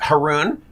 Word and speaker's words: Haroun: is heroin hair actually it's haroon which rhymes with baboon now you'll never forget